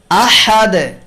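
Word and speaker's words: أحد: শেষে দাল হরফে সাকিন করার সময় আহাদে, সমাদে, এই 2 জায়গাতেই দালে কলকলার আওয়াজ, প্রতিধ্বনির আওয়াজ দিয়ে উচ্চারণ করা হয়, এবং দাল হলো পাতলা আওয়াজে পড়ার হরফ, তাই কলকলার আওয়াজটাও পাতলা হয়।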